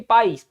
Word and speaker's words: país: sim porque quase a sílaba tônica de país país é o izinho seguido de S então em relação à